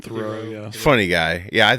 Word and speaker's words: Theroux: Theroux, yeah.